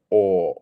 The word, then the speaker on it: or: one is or or notice how in British English we don't say or we're not pronouncing the r it's just or or or it's you're